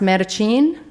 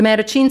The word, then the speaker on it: Mattachine: rights organization formed the i believe it's pronounced meta-gene december no the Mattachine Society aimed to eliminate